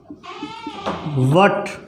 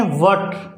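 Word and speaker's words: what: वट, क्या pronounce करते हैं अपने, वट। एक्चुअल में प्रोनाउंस करना क्या है, वॉट, क्या, वॉट।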